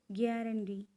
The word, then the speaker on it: guarantee: Which among the following has stress on the third syllable? Guarantee.